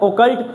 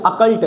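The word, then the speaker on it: occult: ओकल्ट, लेकिन इसको ओकल्ट नहीं पढ़ते। इसको क्या नहीं पढ़ते? ओकल्ट नहीं पढ़ते। इसको क्या बोलते हैं? इसको बोलते हैं अकल्ट। क्या पढ़ते हैं? अकल्ट। इसकी प्रोनाउंसिएशन देखोगे तो क्या आएगा, अकल्ट।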